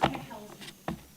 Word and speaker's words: Kachelski: It's pronounced Kukelski. K-A-C-H. Hey.